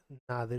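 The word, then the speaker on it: nadir: नादिर होता है। ठीक है, और नीदर या नैदिर या नीडर, कुछ इस तरीके से इसकी प्रोनाउंसिएशन थोड़ी थोड़ी डिफरेंट होती है, डिक्शनरी में देख लेना।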